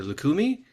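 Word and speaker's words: Lucumí: She focuses on this process at the intersection of I'm hoping I'm going to pronounce this correctly. Lukakumi.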